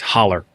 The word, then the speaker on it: hollow: I think it's spelled HOLLOW, but it's pronounced holler.